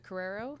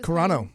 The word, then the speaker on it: Carano: Yeah, Gina Carrero, I think. Is Carano.